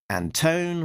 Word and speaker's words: Antone: Like Pliny the Elder, Sabrina del Grosso, the flatter, letterer Pat Brousseau, editor Alex Antone, rhymes with phone, publication design Jillian Crabb, production design Richard Mercado, and creative consultant is Diana Davis.